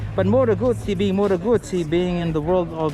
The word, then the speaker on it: Moto Guzzi: People call it Moto Guzzi, but I think you gotta pronounce this properly. Say Moto Guzzi. You gotta syllabicate every word.